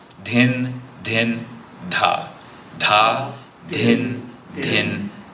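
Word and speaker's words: dhin: And if you hear a little breathiness, there's that aspirant syllable that we have from Sanskrit-based languages. So in English, we usually write D-H-A, D-H-I-N for da and din.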